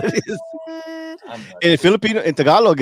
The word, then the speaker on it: Tagalog: you spell it wrong, it's probably spelled right. Yeah, they people like, hey, yeah, it's Tagalog. No, it's Tagalog.